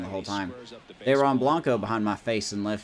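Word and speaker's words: Dairon Blanco: Dar uh Dron Blanco I've been saying his name wrong the whole time drron Blanco behind my face in left field Drew Waters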